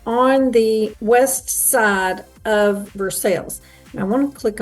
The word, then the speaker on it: Versailles: But getting back to our travel here in Versailles and it, as I said, it is pronounced Versailles here in Kentucky and not Versailles.